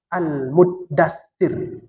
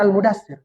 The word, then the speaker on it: Al-Muddathir: Yang betul itu cara bacanya Al-Muddathir. Jangan Al-Mudathir. Salah itu. Ya, Muddathir.